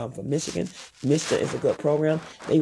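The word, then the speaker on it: MSHDA: It's MISTA, it's spelled all uppercase, M-S-H-D-A.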